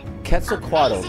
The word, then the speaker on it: Quetzalcoatl: Quetzalcoatl. That's how you. That's how you pronounce it.